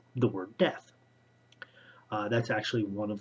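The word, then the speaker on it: Deth: of the high one is a man named death spelled d-e-t-h but pronounced like the word death uh that's actually one of the riddles in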